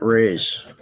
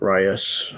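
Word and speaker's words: Reyes: bay area it's called point raise point rios however you want to pronounce it r-e-y-e-s and um ever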